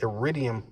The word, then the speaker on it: Iridium: Iridium.